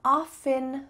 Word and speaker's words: often: The root word here is the word oft. Oft. This is an old-fashioned word. We don't use that anymore, but in that word, the T is pronounced. So just through time, the T has been dropped, the T has been added. Both are acceptable.